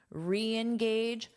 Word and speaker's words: reengage: And for pronunciation, notice that this is a fully stressed sound. So you pronounce it as re, E re. And then you just say the verb re engage, re, engage. So you will hear this as two separate sounds.